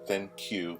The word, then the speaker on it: ThinQ: So earlier today, in New York City, LG made the G7 ThinQ, that's how it's pronounced, made it official.